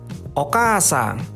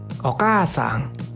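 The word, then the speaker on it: お母さん: Nah, kalau misalkan pengucapan atau pelafalan, ini agak panjang minasang. Jadi seperti ini. Okasang. Okasang. Oke ya? Jadi K-nya panjang.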